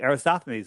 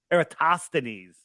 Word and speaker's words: Eratosthenes: And there's a whole bunch of videos showing you what a joke Aristophanes was. Eratosthenes, for those of you that freak out when I say it wrong.